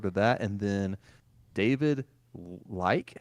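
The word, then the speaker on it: Leitch: And then David Like, is that how you pronounce his last name? Uh, Lynch. Yeah, there's no way it's Lynch. It's L E I T C H.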